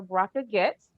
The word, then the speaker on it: Bracha Goetz: the interview started so so you have here brocco gets and i said it right yay me um